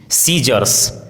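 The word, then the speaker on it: scissors: यदि किसी वर्ड में एस सी साथ में हो तो सी का उच्चारण साइलेंट होता है, जैसे scene, सीजर्स, disciple, discipline, science, conscience, accent, fascinate, muscle.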